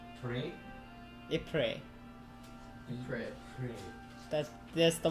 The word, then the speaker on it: Ypres: No, the name of the city is Ypres.